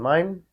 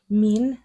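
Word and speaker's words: mien: m i e n is it mine or is it mean mean because there's a pronunciation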